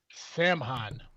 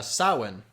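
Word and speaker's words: Samhain: Halloween's origins come from the Celtic festival for the dead called Sam Han. Uh, sawin is actually how you pronounce it.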